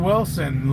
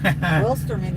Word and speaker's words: Wilsterman: Wilson, I'm late. What's fishy? Wilsterman, you always say his name I know. wrong. What did I call him? Wilson? Yeah.